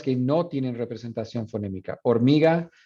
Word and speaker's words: hormiga: Hormiga, that H is silent. So if you're going to represent its phonemes, that H is not a phoneme. That's just an orthographic symbol. When you say it, you don't say hormiga, you say hormiga.